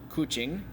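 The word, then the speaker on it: kucing: new words coching coching remember the C is pronounced as a CH coching means cat aning means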